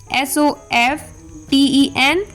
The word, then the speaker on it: soften: पहले L आ रहा हो तब T लेटर साइलेंट होता है. जैसे LISTEN listen, CASTLE castle, CHRISTMAS Christmas, SOFTEN soften, fasten, whistle, ballot, bustle.